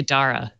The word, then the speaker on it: Dara: I decided, I don't care how he pronounces it, I'm calling him Dara Khosrow Shahi because I pronounce it all I think day. it's actually Dara.